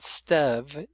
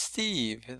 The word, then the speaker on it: Steve: It's not Stev, it's Steve. Like Fred, Fred is the short E.